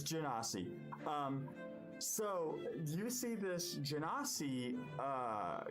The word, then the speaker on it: Genasi: It's Genasi confirmed D&D Beyond. It has a pronunciation button. Oh, cool. I'll take it. It's Genasi.